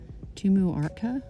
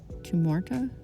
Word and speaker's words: Tumuarta: I um tried one recently called Tumuarta. Tumorta looks like I don't know like portoarta. The way it's spelled, it's um t u m u a r t a and it's the closest one I can find.